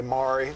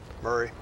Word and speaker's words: Maury: It's actually, and that's the way Murray is the way I pronounce it, but I'm not going to tell you how to say it, Pat. You say Maury, that's all right. Is that not the local pronunciation of it there? Murray. Wow. Murray is the way most of the locals say it.